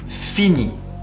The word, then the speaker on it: finis: You don't pronounce the S at the end, as you have noticed, and the T, it's also silent, so it's basically sounding exactly the same way.